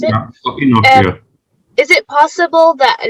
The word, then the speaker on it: Enoch: Is that how you pronounce it? Yeah. Enoch, yeah.